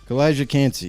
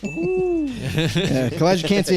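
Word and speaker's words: Calijah Kancey: I don't even know how to pronounce that either. What is that, Kalijah? Kalijah Cansey. Boom! I got it. Ding, ding, ding. Kalijah Cansey, I have him as my third D tackle.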